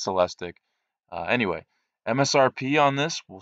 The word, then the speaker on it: Celestiq: you go online that says it could be pronounced celestique or celestic I'm not positive but I think it's celestic anyway MSRP on this